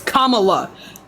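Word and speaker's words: Kamala: __ ] name right it's commala Kama is a word in the English language you should be able to say that filth these are the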